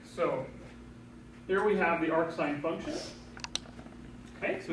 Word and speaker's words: arcsine: write it this way I will typically pronounce it this way that is I'm going to say AR sign okay but it just